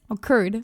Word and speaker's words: occurred: I sometimes say it like more like cured instead of curd.